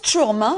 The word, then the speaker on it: Tourm: vous nous en parlez on prononce tourm faut pas dire le ha non c'est atténué c'est atténué t voilà comme ça c'est un ouvert voilà ça alors moi